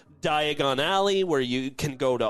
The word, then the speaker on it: Diagon Alley: really experience I mean when you say Diagon Alley you better go to Diagon Alley because I don't know if you remember but Harry mispronounced it and then got sent to Dragon alley oh he's got his